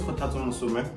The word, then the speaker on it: Kgothatso: Okay, so my name is Kgothatso, but for those that don't know how to pronounce Kgothatso, you can just call me.